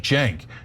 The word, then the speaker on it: Cenk: Okay, so if you haven't been named like mine, that's the starts with a C, but pronounced like a J Jenke it's definitely my job to tell you. Otherwise. You're gonna be like, hey, sink wygor like, yeah, how are they supposed to know?